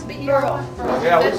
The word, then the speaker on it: Burrell: Burrell, is that the way you pronounce it? Burrell.